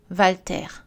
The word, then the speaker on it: Walter: Attention, la lettre W peut aussi être prononcée V, wagon, Walter.